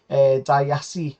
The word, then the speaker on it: Disasi: Disasi, I believe it's pronounced.